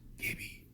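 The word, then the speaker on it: Gibi: of hits on YouTube I believe her name is pronounced Gibby GI i b i ASMR and she has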